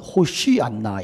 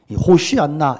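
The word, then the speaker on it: הושיעה נא: 곳에서 호산나 하더라 자 정확한 발음은 호 씨 안나가 입니다 호시 않나 이 말은 주요 우리를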